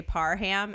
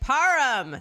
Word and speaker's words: Parham: And everyone used to say Parham, and she'd be like, Parham. So that's why I know it's pronounced.